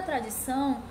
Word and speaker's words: tradição: Sílaba tônica, tradição. O são é a sílaba tônica, então ela é oxítona, tá? Porque é a última sílaba.